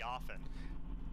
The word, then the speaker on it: often: the letter t but it is actually a silent t oh often it's supposed to be often one i used to